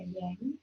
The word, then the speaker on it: yang: When we talk about yin and yang in Chinese medicine, when I say yang or yang, think of it like fire. So yang, Y-A-N-G, yang is the Chinese way to pronounce it.